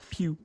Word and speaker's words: Pugh: Florence Pugh you I don't know how to pronounce that pew pew pew so she she actually is the